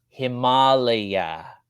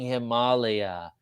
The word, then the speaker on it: Himalaya: the mountain, in Asia, in India, it's pronounced Himalaya, not Himalaya, not that ugly Himalaya, it's Himalaya. There's a flow. There's a beauty to saying Himalaya.